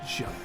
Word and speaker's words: Javert: Then you see this Johnny guy, let a little Inspector Javert know. It's Javert. You said it right earlier.